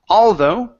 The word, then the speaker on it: although: although okay right here so the stress is at the end of the word instead of saying although although okay although okay